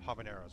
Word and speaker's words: habanero: only jalap or uh Habaneros right those hos as I've learned silent on the H silent on the H